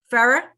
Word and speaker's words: Ferrer: Did I pronounce that correctly? Ferrer? Okay, Ferrer. And he is a yoga and forgive me, is it Qigong or Qigong?